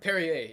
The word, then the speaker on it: Perrier: call the um no not Lacroix uh it's pronounced Perrier yeah yeah then I started getting into it